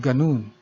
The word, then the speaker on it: ganun: Note the stress mark in the letter U in ganun. It means the word has to be pronounced fast.